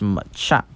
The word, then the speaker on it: Machamp: Machamp, yes, it's Machamp. And he just says, Machamp, use Mach Punch. And he says, use with all 4 of your arms. And Machamp throws with all 4 of his arms, creating